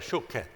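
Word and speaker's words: שׁוֹקֵד: 살구나무를 발음을 할 때 살구나무를 갖다가 샤켓이라고 말해요. 그때 보나이다 할 때는 이건 쇼켓이에요. 쇼켓.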